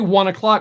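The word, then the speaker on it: ONE OK ROCK: say one o oh I say one o'clock because that's how it's pronounced it's written one okay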